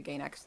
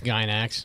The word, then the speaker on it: Gainax: I never really was all that attached to Gayax or I always called it Gynax, but I wasn't sure what the official pronunciation is. It's Gynax.